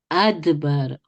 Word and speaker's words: أدبر: أدبر أدبر Yes, that's أدبر.